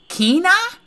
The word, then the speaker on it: Quina: it's ambidextrous kinah i must say kina is how you pronounce that what the freak keena you want this frog